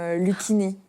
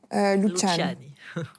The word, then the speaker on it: Luciani: Il y a beaucoup de gens, au départ, qui m'appelaient même Lucchini. Alors bon, j'ai décidé de simplifier la prononciation. Mais la vraure prononciation, c'est Clara Luciani? Luciani. On dit presque pas le i en fait.